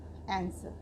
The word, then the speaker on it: answer: ANSWER, आंसर। आंसर means उत्तर देना। इसमें हमारा W क्यों साइलेंट है? क्योंकि W लेटर के बाद हमारा ई वॉल है। इसलिए हम इसको पढ़ेंगे आंसर।